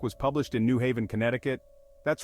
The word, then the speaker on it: Connecticut: published in New Haven Connecticut that's right this state was connecting people before was cool so next time you're dialing up a friend remember it's Connecticut and forget the C in the middle next Massachusetts where history